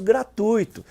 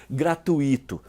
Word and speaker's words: gratuito: alguns pronunciam Nobel e o famoso gratuito sem acento que muita gente erra ao dizer gratuito casos bem típicos são